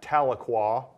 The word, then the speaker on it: Tahlequah: for for our for our Texas bankers you pronounce that Tahlequah Oklahoma but but that's a it's a college